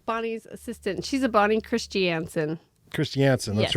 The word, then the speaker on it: Christiansen: She's a Bonnie Christiansen. Christiansen, that's Yes. right. Not Christiansen, Christiansen. I remember spelling that correctly.